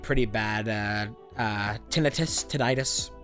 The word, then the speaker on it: tinnitus: pretty bad uh uh tinnitus tinnitus people people say that like the proper way to say it is tinnitus when I say tinnitus because that just makes more sense to me and I got that